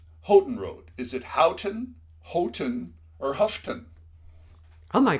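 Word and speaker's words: Houghton: I have a nephew who gives me a hard time about how I pronounce Hton, but to me it's H Hotton, Michigan, but here it's Hton.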